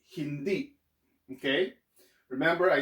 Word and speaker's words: hindi: not going to be hindai so it's going to be e so you pronounce this hindi it's not hindi but hindi remember there's that accent so you have to cut it abruptly hindi so the next